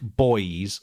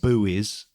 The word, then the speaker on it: buoy: and they're a bit like boys or buoys as the americans might call them as a spell or